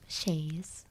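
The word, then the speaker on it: chaise: It does say sh h a yz is the way to pronounce it. So, I'm guessing I'm doing it right. Shayes.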